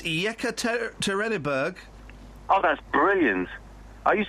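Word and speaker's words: Yekaterinburg: first I want to hear what what's the pronunciation of that Russian town oh for crying out loud it's yeka terberg oh that's brilliant are you have a friend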